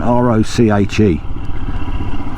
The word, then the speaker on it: Roche: So we're now coming into Roche, or Roche as I say, because it's spelt R-O-C-H-E, and to me that isn't roach. Roach of the fish is R-O, look there it is in front, R-O-C-H-E.